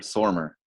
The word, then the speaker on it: Stormare: Yeah, Peter I Stormare? I had to look it up. It's Peter Stormer.